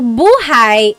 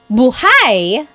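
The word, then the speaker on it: buhay: depending on its context so buhai is life if you say Bhai the emphasis is on the second syllable Bai that means alive like oh my gosh how's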